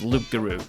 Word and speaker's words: Loup-Garou: that much is I think that's how it's pronounced in French but it is also just known as Luke Guru which means werewolf in French this is the